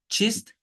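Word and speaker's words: چیست: Sondaki ST onu direkt Y diyebiliyorum. Y. Çist, çiye.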